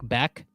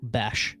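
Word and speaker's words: Bech: Kine said to me I was saying Jack Beck and then kraine told me that he heard it Jack bash let's Google it right now how to pronounce Jack bash last name all right I'm going to I'm going to listen to this clip he uh he looks jacked Steph says it's bash it's bash yes brashard Smith is the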